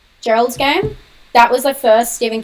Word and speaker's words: Gerald's Game: It's like Gerard's Game. I always say it wrong. Sorry, I'm going to be really annoying. Gerald's Game.